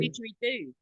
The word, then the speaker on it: didgeridoo: I love all of those old horns that they used to use for stuff, like how you say it, diggeroo? Is it a Oh, diggeroo? didgeridoo. Yeah, didgeridoo.